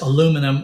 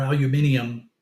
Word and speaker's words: aluminium: so you know uh whether you say it as aluminum or aluminium you're not wrong I mean you know it's uh correct to to uh to pronounce it uh either way that that you want